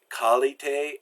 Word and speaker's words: qualité: QU is pronounced like K. So words like qualité and question, you don't do a qua sound, you do a k sound.